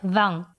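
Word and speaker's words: vingt: от 80 до 100 запомним что от 21 до 29 в числе вам произносится конечный 3-х в остальных случаях не произносится далее будет использоваться такой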